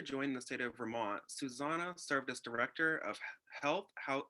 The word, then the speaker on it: Xusana: She is fluent in Spanish, and her name is pronounced like the phrase Xusana.